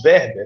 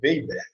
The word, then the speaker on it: Weber: verber Né o Marx verber né ou Weber dependendo da pronúncia ele vai colocar o